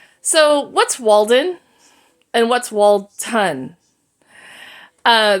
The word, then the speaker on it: Walton: what's Walden and what's Walton uh the street name was Walton w a l t o n but the map kept on calling it Walden w a l d